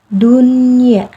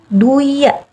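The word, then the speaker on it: دنيا: kata dalam Alquran yaitu pertama dunia Jadi dia Nggak duya dia nggak melebur ke huruf ya karena emang ini dibacanya harus jelas hukumnya menjadi izhar mutlak dunia yang kedua Bun ya Nun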